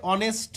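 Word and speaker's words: honest: আরেকবার করো দেখতে পাবে অনেস্ট এইস এর কোন উচ্চারণ নেই এখানে অনেস্ট ও থেকে শুরু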